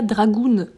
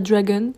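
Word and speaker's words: Dragun: pendant toute la vidéo j'ai dit nikita dragoon alors que ça se prononce pas du tout comme ça je sais pas ce qui m'a pris hier de parler comme ça danse enix dragon il pas du tout dragoon un je ne sais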